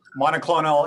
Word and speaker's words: monoclonal: Is that the correct pronunciation for this? Yes, it's monoclonal antibodies and monoclonal neutralizing antibodies.